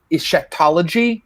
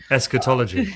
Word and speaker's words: eschatology: you have picked up on a lot of Shakeology am i pronouncing that right is scatology eschatology etiquette ology Thank You mr.